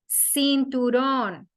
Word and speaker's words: cinturón: The letter C has two sounds in Spanish. It sounds like Ka or C as an S. For example, cinturón. This is the first sound as a C.